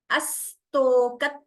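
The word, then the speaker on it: अस्तोक: Astoka tribhuvana. Do you hear the dvitvam clearly? So, astoka, sa is doubling.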